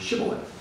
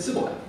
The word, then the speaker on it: shibboleth: They didn't have the sh sound in their dialect, and so they said sibboleth.